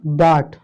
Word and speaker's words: bought: और एग्जांपल देख लीजिए, बाट, BOUGHT, बाट। इसका मतलब होता है खरीदा, क्या होता है, खरीदा। तो यहाँ भी यू आया है इसलिए ये आपका क्या है, साइलेंट है।